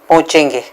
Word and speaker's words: पहुंचेंगे: Again you डू नॉट पहुंचेंगे, यू डू not pronounce the word ह।